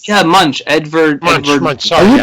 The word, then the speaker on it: Edvard Munch: Munch. Sorry, you pronounce it Munch?